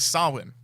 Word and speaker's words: Samhain: It's spelt Samhain. It's pronounced Samhain.